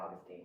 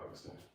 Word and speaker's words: Augustine: Okay, so I want to make sure I'm pronouncing your name right. Augustine. Yeah, Austinine.